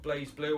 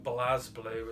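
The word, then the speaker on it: BlazBlue: Next we got Blaze Blue, or Blaz Blue as it's pronounced here.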